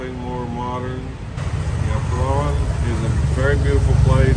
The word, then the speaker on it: Palawan: So check him out on YouTube because he's got some really nice videos showcasing Palawan, and I was saying it Palawan, so it's Palawan.